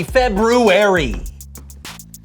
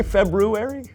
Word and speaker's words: February: the so-and-so show Happy February did you say February I know there's an R there but most people don't pronounce it oh well most people